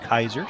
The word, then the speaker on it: Keiser: that suggests that uh it is pronounced Kaiser so we were debating that before we went on the air we've heard it done both ways so now Midway